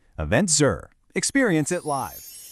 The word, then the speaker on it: EventCR: This has been Eventful Estonia from the Eventful World 2026 series by EventCR, pronounced EventZer.